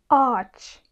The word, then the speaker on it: ağaç: Mesela ağaç kelimesinde burada iki tane A ve A, yani iki A'nın arasında yumuşak G. Buradaki telaffuz ağaç. Eğer yumuşak G olmasaydı bu ağaç olurdu. Burada yumuşak G'nin olması bunu yumuşak bir şekilde söylememiz gerektiğini belirtiyor. Yani bunu ağaç değil, ağaç olarak söylememiz gerekiyor.